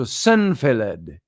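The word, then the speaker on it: Cennfaelad: sent for Santa Fe I I want to pronounce that right c-e-n-n-f-a-e-l-a-d so senfelled but he too wouldn't answer the question for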